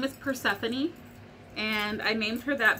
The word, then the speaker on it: Persephone: me for that name because it's like has four syllables and most dog names have one or two, and you know, and that's it. But I was like, no, it's Persephone.